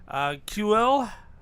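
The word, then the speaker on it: Kuiil: What I got, by the way, Star Wars: The Mandalorian retro collection of a dude I cannot pronounce his name. QL, the little Ugnaught that helps.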